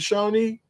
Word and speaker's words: Shawnee: There was a tribe called the Shawnee tribe, right? Yeah. Is that how you pronounce it? Shawnee?